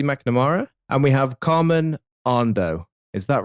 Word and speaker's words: Andoh: We have Johnny Boursiquot, we have Ashley McNamara, and we have Carmen Andoh. Is that right? Correctly pronounced, Carmen?